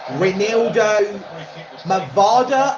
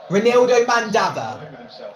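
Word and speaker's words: Reinildo Mandava: I thought it was going to go to Saka, but it was getting closer to Ronaldo Mavada, I think his name is pronounced or spelt as. High standards. Ronaldo Mandava.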